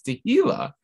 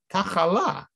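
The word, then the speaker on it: תהילה: And so they pronounce the words tachas tehila. Instead of the word praise, they put tachala, you know, illness, destruction. Tachas tefila, and instead of the word prayer, they put tifla, which means, you know, tiflis, like silliness. Or shem, so he'd be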